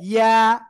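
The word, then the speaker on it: ياء: ইয়া, এক আলিফ টান হবে। ইয়া, এরকম না, জাস্ট নরম ভাবে ইয়া, ইয়া, ইয়া।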